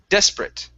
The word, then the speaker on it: desperate: the other thing is we skip over that r sorry not the r but the e right before the r so it's des brit desperate desperate good good one